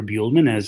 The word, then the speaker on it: Buehlman: Hello, my name is Christopher Buehlman, as Max correctly pronounced and introduced me.